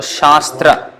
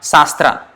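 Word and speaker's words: śāstra: is problems as sure and a with the line above is aa so sha then s with nothing no dot no accent sir so Shas Shastra tra t is the den driven and rah and so Shastra it's not sastra it's not sastra something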